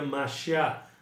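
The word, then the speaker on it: מָשִׁיחַ: né que na língua na língua hebraica se pronuncia marchar tá vão marchar tá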